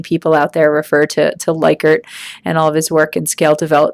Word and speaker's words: Likert: just to be clear that is pronounced believe it or not liquor not like ered I think many many people out there refer to likert and all of his